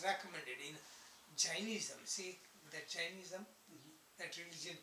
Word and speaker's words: Jainism: Jainism? No, Jainism. J-A-I-N. It's also Jain.